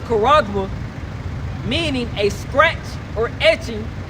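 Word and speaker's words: χάραγμα: The word mark in Revelation chapter 13, verse 16 in the Greek pronounced charagma, meaning a scratch or etching, a stamp as a badge of servitude, graven mark.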